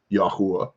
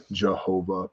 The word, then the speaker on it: Yahweh: yod he VAV hey Yahweh Yahweh yahav Jehovah pick a pronunciation although again I'll remind you there's no J in Hebrew um facts look it